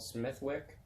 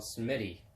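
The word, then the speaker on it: Smithwick's: but Semitic not Smithwick they don't pronounce the T and there's no W in the Irish language so Semitic not Smith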